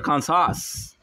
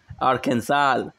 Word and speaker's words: Arkansas: guess i can't even quit am i or khan sauce i'm french bro that's why ah that makes sense you'll teach me the proper way when you when we play together arkansas ah the pronunciation oh bro those people uh